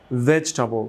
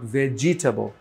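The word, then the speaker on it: vegetable: অংশ একসাথে আরো এই অংশ আলাদা মানে একসাথে ভেজিটাবো নট ভেজিটেবল তারপরে হিস্টরি হিস্টরি ওই টা থাকছে না থাকছে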